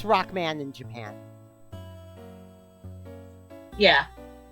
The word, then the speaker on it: Rockman: I know it's Rockman in Japan. Yeah. Which can hilariously be pronounced as Lockman, as there's no distinction between R and L in Japanese.